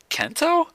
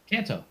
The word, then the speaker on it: Kanto: Kento? Kento? Kanto.